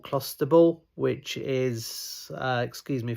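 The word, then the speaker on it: clostebol: uh a substance called clusterable which is uh excuse me for my pronunciation clusterable I think is is how you pronounce it but it's a type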